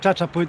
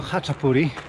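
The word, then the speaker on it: chaczapuri: Trochę mam dylemat, bo czasami CH wymawia się jako chy, a czasami jako czy. Stąd nazwa Haczapuri. Nie czytamy przecież Chachapuri, tylko Haczapuri.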